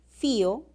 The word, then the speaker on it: fío: Una cosa es decir fío con hiato acentual y otra cosa es decir fió.